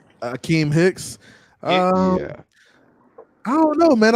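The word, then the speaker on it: Akiem Hicks: Akeem Nick? Akeem Hicks.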